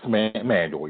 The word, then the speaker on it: Manuel: As a black male watching, young women like Simone Manuel, and did I pronounce her name correctly? Yes, Manuel, yes.